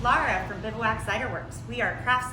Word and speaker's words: Bivouac: The first question everybody asks us is, how do you pronounce it? And the answer is bivouac.